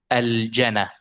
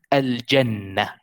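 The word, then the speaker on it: الجنة: But if you are speaking Fusha, you just need to differentiate between the shadda and no shadda. So you have to differentiate between al-jana and al-jannah. So al-jannah is two noon.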